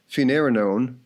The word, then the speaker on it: finerenone: The drug's name is finerenone. Note that it rhymes with spironolactone and eplerenone.